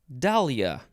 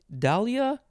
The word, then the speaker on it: dahlia: this episode it is dahlia dahlia or dahlia i guess i say dahlia d-a-h-l-i-a this oh i see the dagger icon okay this is a noun from 1835 any of a genus dahlia of american tuberous rooted